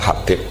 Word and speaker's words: Habib: nulis yang benar ohih yang benar itu bacanya habib habib itu asulami itu ikut margaiah itu kemudian ditulis gurunya